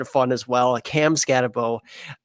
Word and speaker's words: Skattebo: Cam Skattebo, right? There we go. I got that one. I know that pronunciation.